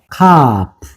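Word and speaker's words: כַּף: 카프예요. 카프. 뭐라고요? 카프. 카프. 자, 카프는 이렇게 씁니다. 카프.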